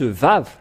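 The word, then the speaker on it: ו: comment on le lit le vave ou le V le vave c'est le V qui est dit ici en le prononce vave et ça ça a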